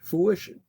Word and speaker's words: fruition: Fruition. How is it pronounced?